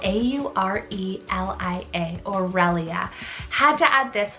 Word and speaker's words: Aurelia: girls side i have the name aurelia spell a u r e l i a aurelia had to add this one as its